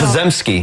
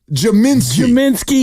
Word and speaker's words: Podziemski: Jaminski.